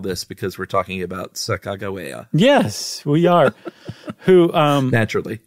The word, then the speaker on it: Sacagawea: years, no, it's not Sacagawea, it's Sacagawea, right? There's one pronunciation of it, but that it's not J, it's G.